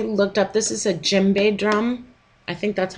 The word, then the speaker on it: djembe: And then I looked up, this is a djembe drum.